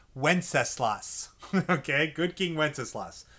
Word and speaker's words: Wenceslas: That's pronounced Wenceslas.